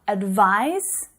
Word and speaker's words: advise: Advise, advice. Can you hear the difference in the pronunciation? Advise, advice. It's that final consonant sound, the S unvoiced sound and the Z voiced sound, okay?